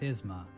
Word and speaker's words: Isma: I mean, it's you pronounce it Isma.